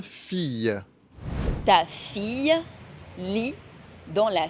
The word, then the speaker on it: fille: Quand un I est suivi de deux L, on prononce Y, comme dans une fille.